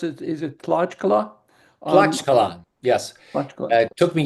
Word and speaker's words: Tlaxcala: Yeah, going back to, I don't know if I can pronounce it, is it Tlaxcala? Tlaxcala, yes.